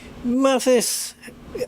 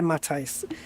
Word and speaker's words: Matisse: Mathis! Oh, no, wait a minute. Oh, Matisse, is that right? Matisse, have I pronounced that? Is it Matisse? Hi, Matisse from PMDG. Hello, mate. One of the developers there on the stream. Thank you so much for joining. If I got your name wrong, Matisse. Oh yeah, Matisse. Sorry, Matisse. There you go. Got it right.